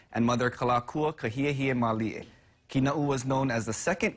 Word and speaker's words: Kina'u: A lot of the times the name is mispronounced as Kina'u or Kina'u, but the appropriate pronunciation is Kina'u.